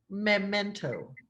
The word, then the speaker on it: Memento: Memento. No, I haven't seen it. Memento. Oh, como That's momento, pero con E.